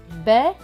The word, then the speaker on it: bêtes: Le S à la fin est écrit en bleu, donc il ne se prononce pas. Donc ce mot va se lire bête, bête, bête.